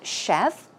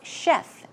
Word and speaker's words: chef: a very good smell and then we have Chef simple to pronounce chef chef as you would pronounce s h EF